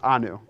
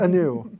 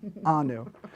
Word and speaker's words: Anu: but he can't pronounce anu anu not anew anu okay daniel arizona's first